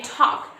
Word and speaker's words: talk: with this silent L, like we can say talk. We don't say talk, do we? We don't say talk, we just say talk. So this L is also silent in the word talk.